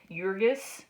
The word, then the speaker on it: Jurgis: to understand the characters jurgis is our main character and I don't strictly speak lithuanian but to the best of my ability it's pronounced as though it begins with a y jurgis is their main character